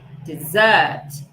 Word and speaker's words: dessert: E a segunda palavra vai ter o sílabo forte no segundo sílabo, ok? Dessert, dessert, dessert, desert, dessert, ok?